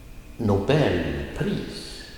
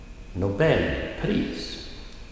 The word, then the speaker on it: Nobelpris: And at the bottom of page 74, Nobel plus pris blir Nobelpris. Nobelpris. I'm using my finger to show you the falling tone and the rising tone.